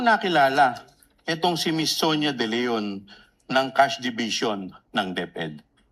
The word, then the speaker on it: De Leon: permission of Representative Chua, can you pronounce the name more distinctly, ma'am? Ano pong pangalan? Sonia? Sonia De Leon. De Leon.